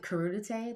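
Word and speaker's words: crudité: And I love like carota, how do you pronounce it? Crudite, like veggies and like vegan ranch.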